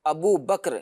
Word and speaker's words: ابو بکر: لیکن یہ لفظ جو ہے وہ بکر ہے، ابو بکر، یعنی کاف کے اوپر جو ہے وہ جزم ہے۔ تو بہرحال زبان کے